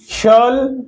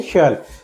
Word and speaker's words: shall: should शल काय आहे शल काय कस प्रो प्र्सशन करतात या एस डबल एल च शाल अस म्हणतात शाल शाल द रंग प्रोनन्सशन इट शल य से शल नॉट शाल शल काय आहे भविष्यकाळी